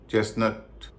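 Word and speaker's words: chestnut: Bristle castle चेसनट मॉगेेज अब हम जानेंगे कि इन शब्दों में टी साइलेंट क्यों होता है। अगर आप इन शब्दों पर गौर करेंगे तो आप देख पाएंगे इन सब में या अधिकतर शब्दों में टी से पहले एस है और एस के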